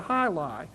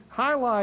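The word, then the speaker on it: jai alai: VFW hall is today, was the high, which is actually spelled G High is a Cuban sport, which is spelled J A I A L. Uh, I or AI. Uh, the game high, which is a game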